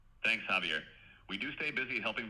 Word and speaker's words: Xavier: It's pronounced Javier but it's with a X.